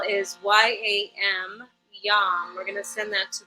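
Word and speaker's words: yam: is related to love relationships intimacy the seed syllable is y-a-m Yum we're gonna send that to the heart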